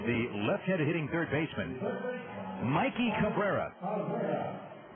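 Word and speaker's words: Mayke: left-handed hitting third baseman Mikey Cabrera he goes by Mike but it's spelled m a y ke a most unusual spelling of the name Mike and here he is here's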